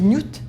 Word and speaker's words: niout: Le hiéroglyphe se lit Nut et veut dire la ville.